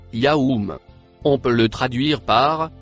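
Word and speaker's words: يوم: Le mot, en bleu foncé, se prononce Yaoum.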